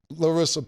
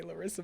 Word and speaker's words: Larsa: So I think a lot of females, Larsa Pippen and them, don't even. You always say Larissa, but it's okay. It's Larsa.